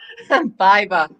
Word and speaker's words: Baiba: Baiba. Baiba. Like bye-bye without the I.